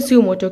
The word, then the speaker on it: suo motu: have a लोकसडाई अब हम बात करते हैं सुमोटो की सुओो प्रोनाउंसिएशन बहुत इंपॉर्टेंट है हमेशा याद रखिएगा नेवर